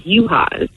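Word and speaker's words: Juhas: my last name is yuhas yes you hearts reach charlotte you have some nice legs yeah you as nice everyday yeah but it's like the j is silent so nobody could pronounce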